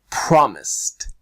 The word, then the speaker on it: promised: In this case, it's an S, so it becomes a T. Promised, promised.